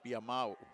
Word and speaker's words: Biamau: I just heard the correct pronunciation. It's Biamau.